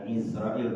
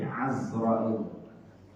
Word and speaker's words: Azrail: Ada yang menyebut, para ulama bacanya bukan Israel tapi Azrail.